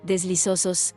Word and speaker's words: deslizosos: a menudo: ¿cómo pronunciar deslizosos todos? La I de deslizosos es como la I de amistosos, y todos se pronuncia de manera que rime con los.